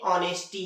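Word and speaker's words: honesty: क्या होता है मतलब ओ के पहले ह जाता है तो ह साइलेंट होता है और हर जगह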